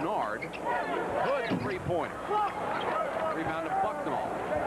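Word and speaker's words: Nared: N-A-R-E-D is how it's spelled, pronounced Nard.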